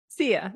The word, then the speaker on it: Sia: And is that pronounced SIA or? SIA, that's right.